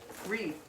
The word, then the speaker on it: Rhea: Rhea? Like Ree. Ree.